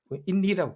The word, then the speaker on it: INRI: 인리라고 부르거든요. 근데 이게 뭐 영어는 아니고 라틴어입니다. 라틴어. 뭐 굳이 발음하자면은 예수스 나자레누스 렉스 유다에룸, 즉 유다의 왕 나세렛 예수라는 글자의 약자죠.